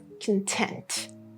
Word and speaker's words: content: And the pronunciation would change because the main stress would change.